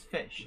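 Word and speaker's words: ghoti: douglas adams wasn't it you you pronounce it like that because uh the gh is spell pronounced f because of uh some word the uh other bits come from other words and so yes that's fish fair enough yeah um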